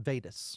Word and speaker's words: Vadis: Somebody just sent me a text that VADIS pronounced Vaydis.